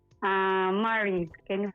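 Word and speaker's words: Mari: Ah Mary. Can you call me Mary? How do you spell that? M A R I. Ah Mary.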